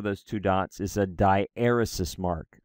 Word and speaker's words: diaeresis: two dots is a die eros mark I mispronounce this word for for a decade I used to pronounce a diaeresis right I was like it looks like diuresis to me and and I would